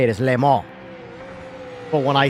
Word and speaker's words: Le Mans: No, it like, Mike, it factually is silent, the N. The N is silent. It is the right way to say it, is Le Mans.